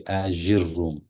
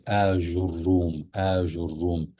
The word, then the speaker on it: آجروم: A lot of people they say Ajurum, but the proper pronunciation is Ajurum, which is not an Arabic word, but he was known by that title.